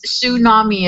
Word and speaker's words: tsunami: And it's tsunami is the title wave. Tsunami. Yeah, I always forget tsunami. That T's is silent.